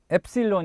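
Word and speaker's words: ἔψιλον: 다음 은 ... 엡 실론 입니다 . 엡 실론 . 그것 은 엡 실론 이라 고 불립니다 .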